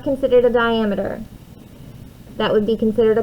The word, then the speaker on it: diameter: That is called the diameter. So I'm going to turn this real quick. Some people accidentally pronounce it sometimes or mispronounce it as diameter. It's diameter. Diameter, not diameter.